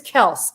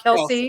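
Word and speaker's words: Kelce: And his name is Kels, isn't it? Not Kelsey.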